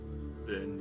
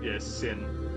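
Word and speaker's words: Sinh: Din, yeah. Din? Is it Din? Yes, Sin. The H. Sin. Right. Okay. Yep. Sin. Okay. Just silent H in it.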